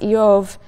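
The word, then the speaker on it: איוב: The name Job, which in Hebrew is pronounced Eov, is sort of bivalent in meaning.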